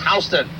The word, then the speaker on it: Houston: This is spelled Houston, but it is pronounced Houston.